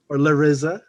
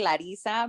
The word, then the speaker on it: Larissa: name is lara or lariza right i said it right right larissa loris it's actually uh and now we're gonna get into my name thing perfect it's actually supposed to be larissa but a lot of